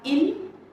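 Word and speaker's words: ils: for they we have ill and L remember the pronunciation guidelines even if there is an S at the end we do not pronounce that s it is pronounced as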